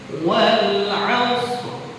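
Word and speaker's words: والعصر: Cuman karena kalau waqaf jadi ada dua huruf yang sukun. Pertama shadnya yang sukun asli. Yang kedua ra-nya kita baca sukun karena apa? Waqaf. Jadi bacanya wal 'asr.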